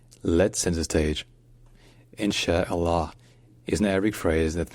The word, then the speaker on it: Allah: cat longer so insh insh and next comes Allah Allah it begins with another gloss toop and then